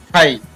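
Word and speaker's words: thigh: इसी प्रकार टी एच से थ और आई थाई।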